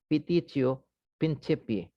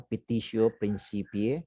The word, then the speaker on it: petitio principii: This is pronounced in Latin as petitio principii. No? Don't pronounce this as you pronounce the Spanish way. No? Petitio principii.